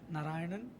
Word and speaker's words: Narayanan: first off how in the world did we pronounce your name it's a giant narayanan it's not easy how do you spell it